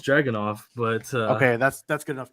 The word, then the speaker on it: Dragunov: pronounces this guy's name right. Oh man. Well, I know it's Dragunov, but Okay, that's good enough. Ilya Dragunov.